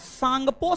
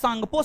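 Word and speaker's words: Tsangpo: trans Himalaya को बहद हिमालय से अलग आईटीएस जेड आईटीएस Z full form होता है Indus सांगपो Sachar John T silent है टी साइलेंट है इंडस सांगपो सचर जॉन फिर बहद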